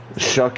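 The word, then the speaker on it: Shough: pronounced Tyler Shuck, the 25-year-old rookie, decent size, not a great arm, decent athlete, and we'll see if he works out in real life.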